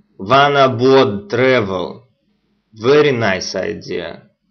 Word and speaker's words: Vanabode: It is called One Abode. Just Google it on your computer and you will see what I'm talking about. It is spelled VANABODE. One Abode Travel.